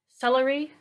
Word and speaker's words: celery: celery has three syllables but where is the emphasis or the stress do we say celery slurry or slurry we say celery right so we put the emphasis on the first syllable stressed unstressed unstressed okay